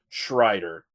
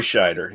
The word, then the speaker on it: Scheider: your insights, but please, it's not Schrider. And I probably mispronounced because, you know, I fucking do that all the time when I get drinking, so... Fair. Roy Scheider.